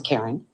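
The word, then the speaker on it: Carren: For the record, my first name is spelled C A R R E N. It's Karen.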